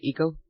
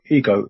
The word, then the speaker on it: eco: Eco? .tort. Not ego, eco.